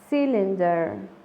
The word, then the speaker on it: cylinder: Nótese la diferencia de la palabra anterior, que se pronuncia cyclone, la Y con sonido de I, y en esta palabra se pronuncia como una I, cylinder.